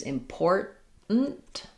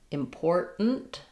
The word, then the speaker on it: important: I tend to use important um where that that vowel is pretty much gone. So, an unreleased T important and then just another